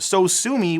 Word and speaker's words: Sosumi: So Sue Me was actually a homonym for So Sue Me, which is spelt differently. And that's actually the final name of the xylophone sound effect.